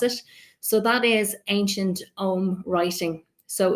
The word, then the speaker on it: Ogham: So that is ancient Ogham writing. So the Ogham is spelled Ogham, but it's a couple of the letters are silent.